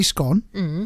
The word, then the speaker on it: scone: I say scone. So it rhymes with gone, right? Which means I'm in the same team as anyone from about York northwards.